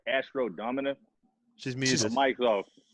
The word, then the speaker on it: Domina: Am I pronouncing that right? Astro Domina? Yeah, Astro Domina. Yep. That's crazy because this asshole Max was saying Dominia.